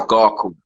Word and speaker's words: GHACOH: You pronounce it as Garko.